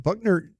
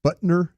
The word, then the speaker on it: Butker: So now it was because of it wasn't just the kickers being, but Buckner, I say his name wrong, Butker.